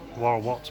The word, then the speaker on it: Warorot: And this is Warorot Market, even though it's got an S on the end of it. That's how we all pronounce it anyway.